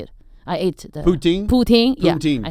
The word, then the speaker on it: poutine: I ate the Poutine?